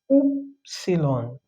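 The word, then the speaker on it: upsilon: just to is is T and um the 20 F letter is oopsilon I know we had epsilon before which is a sound but this is oopsilon so it's oo sound oopsilon oopsilon is written this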